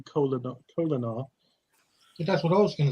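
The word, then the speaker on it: Kolinahr: It didn't to McCoy because he called it Colonier when it's supposed to be Colonar. That's what I was going to say, Colonar.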